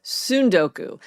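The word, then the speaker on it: tsundoku: a summer of sundoku, the first syllable doesn't rhyme with sun. It rhymes with soon.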